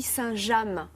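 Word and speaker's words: Saint James: entre la marque saint alors on dit saintjam ça s'écrit c'est a ms c'est vrai qu'on le prononce à l'anglaise mais c'est vraiment français c'est ça vient de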